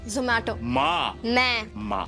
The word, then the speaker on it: Zomato: No offense to you, but it's Zomato. Zomato.